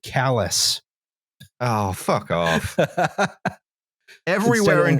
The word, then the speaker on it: Calais: Stephen to Calais. Although I believe they actually pronounce it callous.